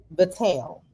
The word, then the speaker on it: Vitelle: It's Vitelle.